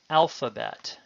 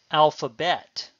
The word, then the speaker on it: alphabet: To give examples of this in English, consider the word alphabet. Notice that though there are several syllables, the stress it begins the word alphabet. It would sound very funny to stress the last, alphabet.